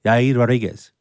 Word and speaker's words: Yair Rodriguez: Just pronounce your Mexican brother. Yair Rodriguez.